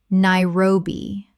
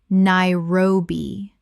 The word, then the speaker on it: Nairobi: Nairobi. Correct pronunciation. Nairobi. 3 syllables with the stress on the second.